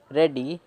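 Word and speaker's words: ready: Before they feel रेडी, देखिए रेडी में क्या है कि जो ई और ए है ये ए का साउंड निकाल रहे हैं, ए का बहुत ही कम होता है लेकिन इसमें है, और जो लास्ट वाला वाई है वो ई का साउंड निकाल रहा है, तो रेडी, फील रेडी।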